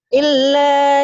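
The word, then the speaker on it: إلا: Ilahnya kan ada tasdid. Illa yadunnun. Illa.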